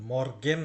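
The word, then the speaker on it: Morgen: সেটা Guten মর্গেন বলবেন মর্গেন না কিন্তু মর্গেন জার্মানিতে আর এর উচ্চারণ নাই বললেই চলে বিশেষ করে মাঝখানে নাই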